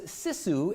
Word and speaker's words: sisu: It's a uniquely Yooper thing to use sisu as a verb. Of course, it's a uniquely Yooper thing to disagree on whether it's pronounced sisu or sisu, unlike that other Finnish